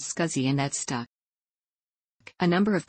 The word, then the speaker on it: SCSI: system interface which better intended to be pronounced sexy but and Estelle Allen pronounced the new acronym as scuzzy Annette stock a number